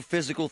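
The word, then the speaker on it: Fyzical: You want a new physical therapy experience? You want a treatment plan centered on you? Monroeville Physical spelled FY Z is spelled different.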